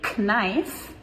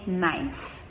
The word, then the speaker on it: knife: So, we spell this with a K at the beginning for some reason, but we do not say knife, we just say knife, N-I-F-E.